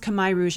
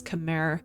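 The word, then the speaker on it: Khmer Rouge: Now, it is pronounced Kamay Rouge, and I know that for certain because my nonprofit partnered with a woman that has her own organization in Cambodia, and she knows the language of Kamaya, and she said that's how it's pronounced, and everyone says Camar, and she's like, they all say it wrong.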